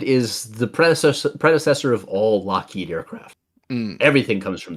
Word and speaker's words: Lougheed: because people would call him Loghead instead of Lockheed.